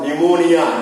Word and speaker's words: pneumonia: This for pneumonia. Pneumonia, P is silent.